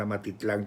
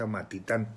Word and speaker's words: Amatitán: se está casando en Amatitán. Yo lo estaba pronunciando mal, Amatitlán, con él es Amatitán.